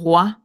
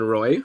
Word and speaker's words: Roy: okay well first off another pronunciation correction Kevin wah he's from Quebec we've definitely had this